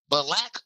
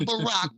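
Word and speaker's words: Balack: Balac Obama. Not Barack, but Balac. Balac. It's spelled B A L A C K.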